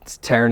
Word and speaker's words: Taren: Taren. Taren is spelled Taren, like Karen, but with a T.